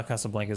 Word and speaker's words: Casablanca: languages and the way we're pronouncing Casablanca incorrectly I think casablanc is about right how do you know